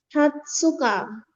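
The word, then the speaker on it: 二十日: Tanggal 20 bacanya Hatsuka. Oke, jadi khusus angka 20 ya. Heeh. Khusus angka 20 itu dibacanya kalau tanggal Hatsuka, kalau umur Hatachi.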